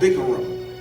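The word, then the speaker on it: bikkurim: And one of the words that stuck out to me was a word that is pronounced in Hebrew called bikurim.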